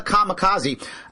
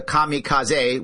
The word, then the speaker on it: kamikaze: with your bomb and they call them the kamikaze actually is pronounced in japanese the kamikaze which means by the way divine wind kami